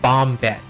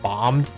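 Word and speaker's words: Bombhead: Side note, I've always pronounced the name as Bomb Bed, but then I thought maybe we're supposed to pronounce it as, the word bombed. But then I double checked on the wiki and yes, I was right from the beginning. We're supposed to pronounce it as Bomb Bed, like bomb head.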